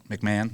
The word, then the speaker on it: McMahon: Is that McMahon? All right. Yeah. Make sure I pronounce it correctly.